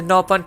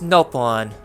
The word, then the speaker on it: Nopon: You pronounce Nopon. You pronounce it Nopon over here. We say it with a short vowel.